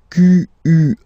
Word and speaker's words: quel: Quel, masculine form here, will be pronounced exactly as the feminine form here. Quel. So, only one sound, okay?